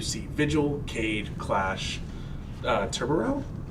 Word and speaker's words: Tubarão: Uh we are going to see Vigil, Kaid, Clash, uh Tubarão? How do you pronounce that? Tubarão.